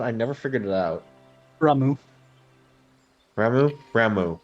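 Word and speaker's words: Ramuh: Ramu. Ramu? Ramu. Okay, H Ramu. is silent.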